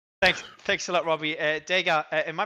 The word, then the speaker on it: DEGA: DEGA, am I pronouncing it right, by the way, guys?